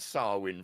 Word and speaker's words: Samhain: So, so yeah, Samhain apparently. Samhain. So we would look at it as Samhain. How would you even get Samhain from fucking? Well, this is what I mean. It's like the Irish way of like spelling and saying something is very, very different than our interpretation in English, isn't it? Yeah. So apologies. It's Samhain. Samhain.